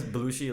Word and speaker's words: Bloushi: it's my last name oh okay but because blue she like i spell it with a b-l-o-u-s-h-i it's taken yes so